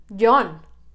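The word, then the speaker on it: Jon: pretty cool number 21 yon just plain old yon it's a variation of john i mean it's it's pronounced john in english let's be honest um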